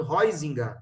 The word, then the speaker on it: Huizinga: Então, o Johan Huizinga, é assim que se pronuncia o nome dele, tá?